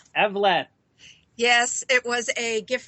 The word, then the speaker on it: Evleth: It's Evleth. Evleth.